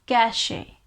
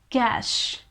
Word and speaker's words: cache: 11 is cash cash i know a lot of people pronounce this word as cache cache but that's a wrong pronunciation it's simply cash cash you know the cash it's the same pronunciation cash example my mobile